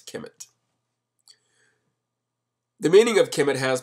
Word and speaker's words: Kemet: means the black land all of these names were originally spelled without vowels so for example kmt represents kimet the meaning of kimet